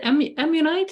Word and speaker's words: ammonite: And what about the ammonite?